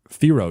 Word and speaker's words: Thiero: Okay, so the Lakers are in it, but that's the Thiero trade, which, remember, that's the correct way to pronounce it.